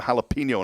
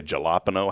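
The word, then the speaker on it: jalapeño: couple of facts here 40% of people mispronounce the name Jalapeno in a restaurant I don't know how you could mispronounce that jalapeno what do they say galapo jalapena that's one word at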